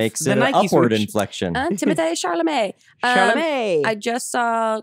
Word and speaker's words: Timothée Chalamet: Well, okay, I kind of have two, but this is going to come out after Timothée Chalamet. Okay. I'm rooting for him. okay. And how did you pronounce that? Timothée Chalamet.